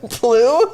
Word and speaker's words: Pugh: Pugh? There's no L in there. It's just Pugh, I think.